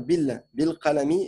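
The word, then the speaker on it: بالقلم: Mais comme ici, c'est une continuité, il y a un bi, tu dois pas prononcer le alif. Tu dois dire bil qalami, et ici aussi, bil minjari.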